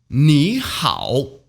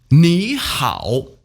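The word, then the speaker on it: 你好: tone falling ah ah they're pronounced in the third tone when spoken individually read after me me how but it doesn't sound the same when we put them together it's pronounced like this knee how nihao i find that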